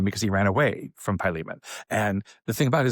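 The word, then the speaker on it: Philemon: Now we are in this weird letter to a guy named Pyan. It may be written Silomon, but the way you pronounce it is Pyan.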